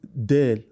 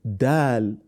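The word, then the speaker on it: دال: must always note that the phonetic sound of Dal and then should not be air not Dell or Veil but Dal then Now Pronounce it so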